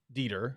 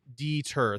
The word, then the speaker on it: Dieter: Dieter.